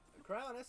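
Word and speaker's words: Cryonis: We are now obtaining I believe the crownis crowns. I said it wrong. That was also just a sound that emanated out of my throat. Ow. So, Kronis allows us to make ice pillars.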